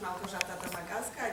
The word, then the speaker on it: Małgorzata Domagacka: And my name is Małgorzata Domagacka. It's very difficult to pronounce, so it is the simplest version, I think.